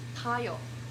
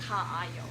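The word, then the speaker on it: 가요: So if we're doing ka plus a plus yo, you just combine a and a. Kayo. So it's not like ka ayo, right? That would be really weird. It's just kayo.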